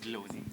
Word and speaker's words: Bloni: Over to the brand Bloni. Am I pronouncing it right? Bloni.